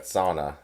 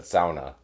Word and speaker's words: sauna: You're calling it sauna. I've always said sauna. We're brothers, so how did we like end up on different ends of the spectrum? Because I think I'm saying it right. Because I spent more time in the UP, and like I grew up there, and then went to NMU, and especially West Enders. It's only sauna.